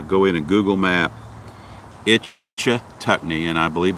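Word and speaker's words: Ichetucknee: look up uh go in and google map itch tuckney and i believe it's spelled i c h e t u c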